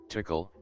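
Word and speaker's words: תקל: single word in the ancient Hebrew language that's pronounced as tickle, and basically, means, you have been weighed on the scales and found deficient.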